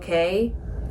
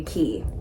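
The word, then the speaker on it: Cay: day was lighthouse mhm key key yeah Lighthouse key I cannot remember it because on Royal it's a beautiful day at CoCo K but it's Castaway key and they're spelled the same it's all about branding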